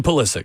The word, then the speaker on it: Pulisic: Christian Pulisic.